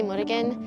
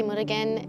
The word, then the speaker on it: Murugan: So just hold up the paper, say your first and last name, and spell it for me. My name is Murugan, and then my last name is MURUGAN.